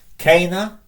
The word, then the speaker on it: cena: First one, Cana, notice a long E.